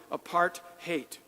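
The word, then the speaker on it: apartheid: the segregated world called aparade one of the most oppressive and unjust societies in the world. South Africans pronounce it apart hate.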